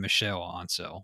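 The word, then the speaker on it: Michel Ancel: director michael and cell apparently you say his name michelle ansel whatever oh he's so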